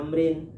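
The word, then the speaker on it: عمرو: bin Amrin qala Amrin, ya ada waw di higanya itu bacanya Amrin.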